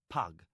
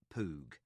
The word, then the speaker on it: Pug: Master Lori and my friend is Pug, not Poo.